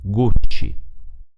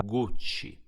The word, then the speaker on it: Gucci: Se scriviamo una I o una E dietro la C, produciamo il suono C. In questo caso, per scrivere la parola Gucci, ovviamente abbiamo bisogno della lettera I, quindi Gucci.